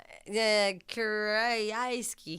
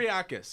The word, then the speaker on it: Kyriakis: Give it a try, Philip. Kiriaski. Kiriaski. Whatever. Kyriakis, yeah. You're right.